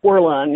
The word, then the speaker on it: Werlein: you thought for sure whether it was Judge Werlein, did I say his name right? Werlein, yes.